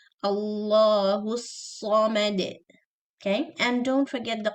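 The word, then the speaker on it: الصَّمَد: Sad should be extra heavy, not sa. Samad, sa. This is seen. Sa. Also, do not circle your lips when you pronounce sa. Heavy letters should not be pronounced with your lips. They should be pronounced with your tongue.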